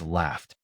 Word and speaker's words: laughed: The midpoint test is laughed. gh represents an f sound at the end of laugh. Because f has no vibration, laughed ends with t.